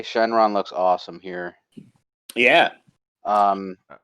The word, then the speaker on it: Shenron: of all dragons um in japanese it's pronounced shenron which is what like it's called in the english dub as well uh but here it is called shenlong and also it's worth